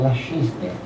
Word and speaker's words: La Chesnay: E ele então, quando estava em La Chesnay, mas é na pronúncia antiga, que eu gosto, é La Chesnay.